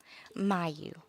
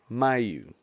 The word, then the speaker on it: Miu: want read well so how do you say your last name my you my you okay I was thinking